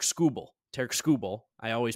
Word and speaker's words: Skubal: big one you mentioned Tariq skubal or sorry it's technically TK scoel TK skubal I always